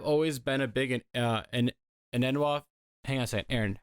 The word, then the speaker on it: Enunwa: I've always been a big an Enunwa. Hang on a second, Aaron. How do you pronounce the last name?